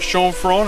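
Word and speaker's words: Chanforan: okay we are here in shan ferran shown from as the french how they say it and this is a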